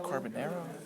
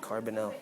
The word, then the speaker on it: Carbonell: The thing is, Am I saying the name right? Carbonero? well, I think you pronounce it Carbonell.